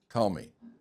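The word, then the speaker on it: Ptolemy: Tommy, right, with a P like pneumonia, right? So, so you dropped or psychology. So, the P is dropped.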